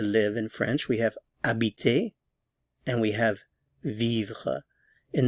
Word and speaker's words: habite: going to look at AB to live to inhabit AB note that the H is silent ab ab remember for